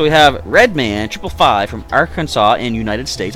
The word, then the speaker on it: Arkansas: have Redman typify from Arkansas in United States I almost pronounce it our Kansas I caught myself unless